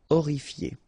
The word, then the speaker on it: horrifié: same thing here, you don't pronounce the H. Horrifié.